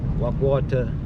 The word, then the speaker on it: Wag Water: Wagu water as the locals say.